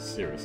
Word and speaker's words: Sirus: force huh so the way sirus's name is pronounced it's basically Cirrus at first I thought it was something like Siri or something but that is understandable